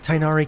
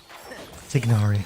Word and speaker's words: Tignari: Okay, I think Tainari confused it properly. We'll see. Tignari. Ah, why do I always mispronounce it?